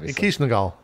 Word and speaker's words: Kishnagal: It's just you pronounce it the Sumerian way. Yeah, Kishnagal.